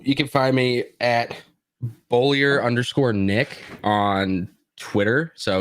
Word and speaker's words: Beaulieu: yes uh so you can find me at bullier underscore nick on twitter so it's b-e-a-u-l-i-e-u underscore nick my last name is pronounced bowlier yes that's what i said i would prefer